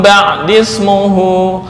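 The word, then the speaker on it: بَعْدِي اسْمُهُ: Nah, wa mubasysyiran bi rasulin ya'ti min ba'dismuhu, bukan mim ba'di ismuhu. Nah, kalau bacanya begitu berarti ismuhu hamzahnya adalah hamzah qata', padahal ini ada tanda shad sebagai isyarat hamzah wasal.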